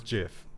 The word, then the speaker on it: GIF: disagree with me but it's jiff gif is jiff I don't agree with